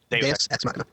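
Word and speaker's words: Deus ex machina: Deuce Xmachina. Deos Xmachina.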